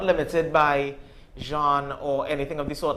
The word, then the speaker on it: genre: just want to ask is Jean like the 2024 way to say genre no that's actually the correct pronunciation that's the the correct